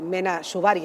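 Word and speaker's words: Mena Suvari: Y eh Mena Shubari, así se pronuncia.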